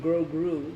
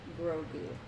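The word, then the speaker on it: Grogu: I always trying to say his name Grou, but it's Grou.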